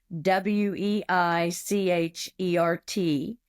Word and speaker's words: Weichert: My email is jmg@Weichert, and it sounds like the Y with a Kurt, but it's spelled Weichert.